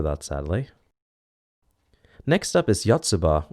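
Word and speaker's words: Yotsuba&!: sadly next up is yatsuba or is it yatsubato let's according to wikipedia it is anyways uh i didn't know that's how you pronounce an ampersand but however it's pronounced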